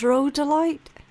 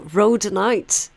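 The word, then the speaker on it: rhodonite: Um, before I look at what that is, I think it's road delight. It kind of looks like roadite to me. Oh, rodenite. I said it wrong. I said it I mispronounced it, but I was right.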